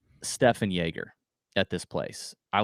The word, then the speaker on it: Stephan: It's not Stephen? He's German, and it's spelled Stephan. So I think it's Stefan Jaeger.